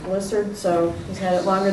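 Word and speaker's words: Blissad: My husband says it's pronounced Blissard, so he's had it longer than I have.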